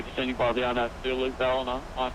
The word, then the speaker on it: Ballina: So I've been saying it wrong all this time. It's Ballina.